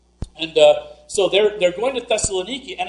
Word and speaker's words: Thessaloniki: They finally get to the city of Thessalonica, which in modern Greece is pronounced Thessaloniki.